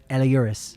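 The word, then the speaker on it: Elehuris: I'm going on record as saying his name is Eliuris. Eliuris. Eliuris. Yes, Eliuris. But we'll never know because he won't tell us.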